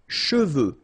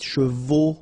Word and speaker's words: cheveux: Usually this one is a bit of a problem because some of the students normally pronounce it chevaux, okay? So try to keep in mind that you get E-U here.